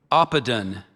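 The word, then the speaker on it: oppidan: Oppedan.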